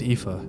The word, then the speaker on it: Aoife: Keep in mind that Aoife and Eva are phonetically almost identical names.